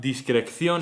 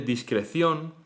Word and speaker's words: discreción: Esto da lugar a discrección en vez de discreción o inflacción en vez de inflación.